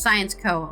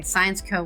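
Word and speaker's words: Syensqo: include Airbus and a science incubator called sciano pronounced science Co okay science Co with a que born from the Belgian Pharmaceuticals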